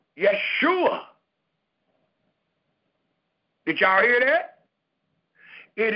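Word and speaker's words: ישועה: called Hebrew that we have today is called Yeshua did y'all hear that it is called yua it is spelled y e s h u a h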